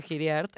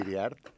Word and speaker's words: Hiriart: Y hoy está conmigo Andrés Cota Giriart. ¿Estoy pronunciando bien tu apellido? ¿O es Iriart? Pues es libre a quien lo vaya a pronunciar, Ah, es pero libre, bueno. sería Va. Iriart.